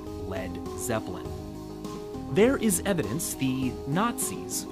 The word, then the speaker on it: Led Zeppelin: his band's new name he removed the a so it wouldn't be pronounced lead and that's where we got Led Zeppelin there is evidence feed